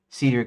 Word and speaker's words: Cedric: uh do because of this now in my head Cedric is uncommon compared to the standard pronunciation British American Cedric with a short E as in pet.